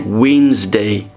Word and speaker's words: Wednesday: Remember, we don't pronounce D, we say Wednesday.